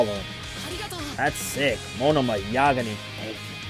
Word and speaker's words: Yagami: I was saying it right, Yagami. I probably at one point I'll say Yagami by accident. I'm sorry if that happens, but for now, let's hope I'm saying it right with Yagami.